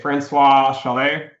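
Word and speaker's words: François Chollet: If you want to do data science and machine learning, I think Deep Learning with Python by Francois Chalet, that's how you pronounce it.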